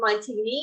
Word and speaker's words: Moni: same exact way my my last name is Moni it's like a like French last name people always pronounce it Montgomery for some reason that's